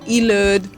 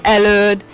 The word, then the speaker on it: Előd: you can read előd, but it's really the Hungarian pronunciation that I give you, because I think in English, how would you pronounce it? Ilőd, maybe, because E is the first letter, but in Hungarian language we say E for this letter.